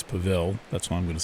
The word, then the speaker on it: Pavel: I'm pronouncing that right I don't think it's pavl I think it's it's Pavel that's what I'm going